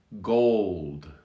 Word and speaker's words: gold: obviously the word changes but when we have two consonants ld the l is pronounced differently because it's influenced by the d so we have goal gold so the l is ghosted a little bit softer in the second one so we're going to